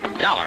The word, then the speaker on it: Dollar: Dollar, huh? Yeah, it rhymes with collar.